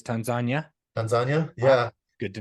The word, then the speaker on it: Tanzania: a buttload in Tanzania, which is how they say it. So Tanzania. Well, it's not Tanzania, it's Tanzania.